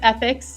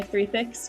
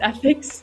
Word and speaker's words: 3thix: It's pronounced ethics. It's a lot of people accidentally say three fix, but it's ethics.